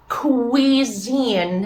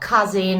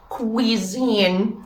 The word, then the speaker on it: cuisine: students initiate and create please it's cuisine it's not cousin or cuisine or some other nightmare please it's just cuisine remember that too and